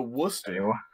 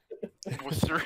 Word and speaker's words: Worcester: To Worcester? Worcester. Worst spelling imaginable, but it's there. I knew someone would pronounce it like that.